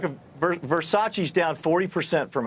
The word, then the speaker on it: Versace: Kors Jimmy Choo and verse ace apparently Versace oh oh oh I'm sorry did I say did I mispronounce that anyway and what